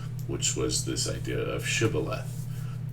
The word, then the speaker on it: shibboleth: was this idea of shibboleth. And they would pronounce it, they wouldn't say the sh part of it, they would just say sibboleth.